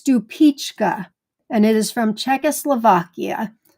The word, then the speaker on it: Stupice: Well, this next one, I must admit, I've been mispronouncing for years. Stupice is the correct pronunciation, where I've been calling it, I think Stupice, maybe Stupice, but I think Stupice. It's Stupice, and it is from Czechoslovakia.